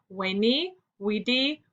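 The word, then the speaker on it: veni vidi vici: battle caesar finally claimed vani vedi vichy pronounced in caesar's day as we knee we di meaning in latin i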